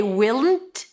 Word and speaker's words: won't: A lot of times people avoid saying won't. Raise your hand if that's you. Because it sounds to them like want. W A N T. Want. I want something. I won't do it. The secret is to put the W in.